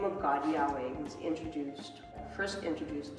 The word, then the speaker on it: Yahweh: or Yahweh so to think of God as Yahweh better say it correctly first is to think